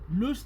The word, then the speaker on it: le: Lo, look at how I pronounce it, not leo.